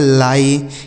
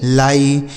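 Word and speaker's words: lie: एल आई ई इसे पढ़ेंगे लाई। एल आई ई लाई।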